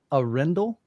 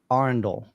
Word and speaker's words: Arendal: heard of your brand I began to pronounce it uh arendel and then I changed to Arendale for some reason but now I think I think I've been pronouncing it correctly so I now call